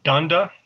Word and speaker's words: Donda: And it's pronounced Donda? Yes. Ms. Donda, I apologize.